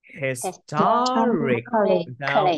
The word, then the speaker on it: historically: Rồi, đọc là historically.